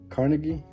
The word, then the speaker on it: Carnegie: to Win Friends and Influence People by Dale Carnegie that's how you say it um this good